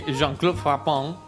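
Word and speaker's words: Jean-Claude Frappant: Y quien está aquí es nada más ni nada menos que Jean-Claude Frapon. ¿Lo pronuncié bien? Très bien.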